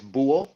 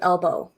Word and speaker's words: buho: So BUHO is buo, so it's like BUO. So buo in Uh, Spanish means owl. So it's the owl. Ah, Yeah. yeah. I have always just called you Elbow.